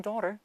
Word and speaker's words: daughter: GHT에서 GH는 묵음이에요. 발음이 안 됩니다. 그러니까 사실상 T만 있는 거랑 똑같고요. 그래서 얘가 동화로 뭉개지면은 르처럼 발음이 되어서가 아니라 daughter 그다음에 study of 때 study 아니고요.